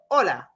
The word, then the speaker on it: hola: So hola hola hola hola hola